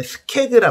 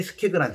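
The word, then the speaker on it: skeg: 이 꽂아놓은 느낌의 것을 우리가 뭐라 부르냐면 스케그라 부르거든요. 스케그. 영어 스펠링은 S-K-E-G.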